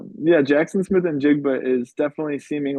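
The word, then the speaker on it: Njigba: Jackson Smith, uh, actually, Jacob, can you can you pronounce um this player's name here for me? Jacob and Jigba.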